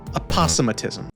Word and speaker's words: aposematism: Aposematism. How the freak do you pronounce aposematism?